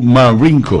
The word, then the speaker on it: Marenco: Cualquiera entonces, puede decir que el apellido es Marenco, no, es que la americano pronuncia la E como I, ¿sí? No. Marenco.